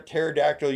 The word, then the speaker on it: pterodactyl: Why can't you hear a par pterodactyl use the bathroom? Because the P is silent.